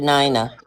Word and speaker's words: Nina: My name is Nina. I pronounce it Nina.